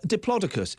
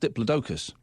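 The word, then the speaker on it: Diplodocus: The big uh Diplodicus, apparently it's not pronounced diploidocus.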